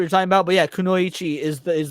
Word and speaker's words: kunoichi: correct pronunciation though like kunoichi like they might maybe they like held out the E too long or something maybe that's what you're talking about but yeah kunoichi is the is the correct pronunciation she's the Assassin not